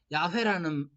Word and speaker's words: 야훼: 그래서 이제 처음 들어올 때 번역하시던 분들이 여호와라는 말로 번역을 했는데 나중에 이제 공부하고 오신 분들이 보니까 야훼라는 이렇게 발음하는 거야 라고 했는데 그분들이 좀 신학이 좀 그래서 보수적인 교단에 있는 분들은 야훼라는 말 안 쓰고 여호와라는 말을 써요.